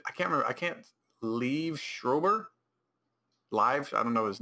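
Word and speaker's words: Liev Schreiber: I can't leave Schrober.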